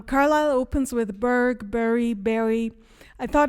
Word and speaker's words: Bury: And then Berry is like the local pronunciation of it. So the berry St. Deadmond Berry is how people um in the present time of Carile are pronouncing it.